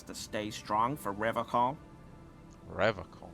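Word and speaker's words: Revachol: He pronounces Revocol with a hard K, unlike other people. Serious question time. This man is no innocent. No one is. I like to pronounce it the hard way. The old way. The Vespertine way.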